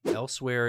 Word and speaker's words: Elsweyr: Elsewhere is the name, it's not spelled this way, but it's pronounced this way.